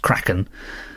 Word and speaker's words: Kraken: the the debate on whether it's Kraken cren Cen croen whatever uh Andy says surely it's pronounced craen he wondered if maybe